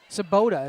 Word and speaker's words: Sabota: Coming in to serve is going to be number 1, Olivia Sabota is how you say that.